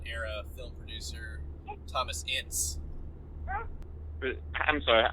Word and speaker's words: Ince: I've always pronounced it Ince. Ince? Like inch, but with a soft s instead of Okay.